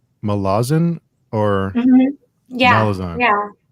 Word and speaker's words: Malaz: So, but yeah, the idea is that it's Malaz, and I didn't know that for years, and I don't think it really matters that much.